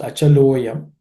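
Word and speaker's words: अचलोऽयम्: Nitya sarvagataha, sthanuhu, achalaha ayam, becomes achaloyam, similar to what we have seen earlier. Visarga becomes u, so la becomes lo, achalo, and a becomes silent.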